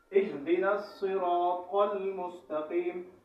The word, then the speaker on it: الصراط: بچنا چاہیے۔ صحیح تلفظ اهدنا الصراط المستقیم۔ یہاں صاد ہے، اهدنا الصراط نہیں ہے، صاد کی جگہ ہم نے سین نہیں پڑھنا بلکہ مکمل صاد ادا کرنا ہے۔ المستقیم، یہاں پر لوگ